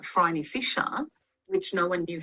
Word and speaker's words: Phryne: famous and so popular that it'll be like Phryne Fisher, which no one knew how to say that. But then Kerry Greenwood's books became so hugely popular that now everyone Mm, knows that it's Phryne Fisher.